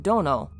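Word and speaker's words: 殿: honorific used for the Lords of those palaces pronounced Dono many buildings on Shrine grounds use the kanji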